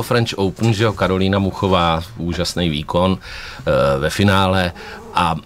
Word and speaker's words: Muchová: a na tom kurtu ji ohlásili jako Karolina Mučová. A vím, že koukal jsem se na Eurosport a komentátor na Eurosportu poslal nějaký WhatsApp přímo jako na vedení French Open a řekl, ať ji vyslovujou správně. A on se opravil a řekl Karolina Muchová.